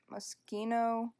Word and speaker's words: Moschino: If you don't get that, it's a stuff pack, and it's actually pronounced Moschino. I don't know. It's the brand Moschino.